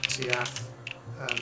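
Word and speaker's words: Tuatha: Lu and for the Tiath and the Danan. Yeah, this is how I thought. Cool. Wait, that's not Tiath wrong. Tiatha, sorry.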